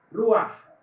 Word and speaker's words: Ruach: Ruach, R-U-A-J, termina en J, por eso es que se pronuncia Ruach.